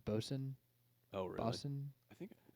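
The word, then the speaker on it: boatswain: is that it's like it looks like bot Swain but I think it's pronounced bosen oh really boson I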